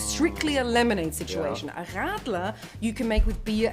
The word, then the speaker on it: Radler: Radler. Yeah. So if you say Radler, that's a really horrible way of saying a German word.